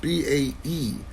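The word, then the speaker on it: bae: And like I say, we weren't B-A-E. Bay? Well, no, we weren't Bay. You guys say Bay. I spell it out still.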